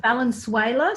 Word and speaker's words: Valenzuela: It's Valenzuela, similar to the country Venezuela.